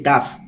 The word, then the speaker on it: Taaffe: de safety, es Michael Taaffe. Por muchas letras que veáis, es tan fácil de pronunciar como T-A-F, Taaffe.